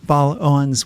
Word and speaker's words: Baal-Owens: all 50 states Christina B Owens welcome to talk of the bay thanks Len for having me and am I pronouncing your last name correctly yes you are actually that's uh gold